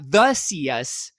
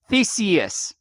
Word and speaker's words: Theseus: It's not the Theseus or the us. It's Theseus.